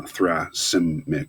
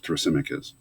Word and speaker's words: Thrasymachus: speech from another character his name is thrasymachus that's how you pronounce that uh thra sim mick because thrasymachus and he has ideas